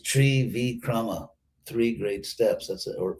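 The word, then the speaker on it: Trivikrama: called tree vikrama which in uh western sanskrit is trivikram but actually it's tree v chroma three great steps that's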